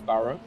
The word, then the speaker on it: Burhop: So the nickname's Burhop, and people couldn't pronounce the name correctly, which is Burrow.